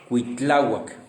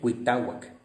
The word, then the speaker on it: Cuitláhuac: Entonces, por ejemplo, podemos decir nosotros muy bien, por decir Cuitláhuac. Los que no pronuncian la TL, tal vez nada más utilicen la T, Cuitláhuac. Entonces así se oiría.